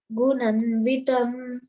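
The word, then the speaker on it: गुणान्वितम्: Bunjanam va gunanvitam. Gunanvitam. Gunanvitam. There is a line, no? There is a line over A. So you have to pronounce dirgha.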